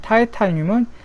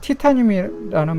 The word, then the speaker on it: 타이타늄: 과학 용어로 옛날에는 이제 독일어 발음으로 이렇게 많이 썼는데, 요즘은 과학 용어를 영어식으로 많이 바꾸고 있어요. 그래가지고 이렇게 게르마늄을 이제 저마늄이라고 하고, 그 다음에 불소는 이제 한자어긴 해도 플루오린이라고 하고, 티타늄을 이제 타이타늄이라고 하고, 그 다음에 이제 원소는